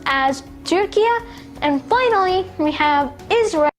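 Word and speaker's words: Turquía: Next, you have Turkey, which is pronounced as Turquia.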